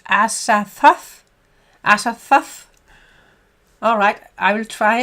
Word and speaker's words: Azathoth: And then det udtales Azathoth.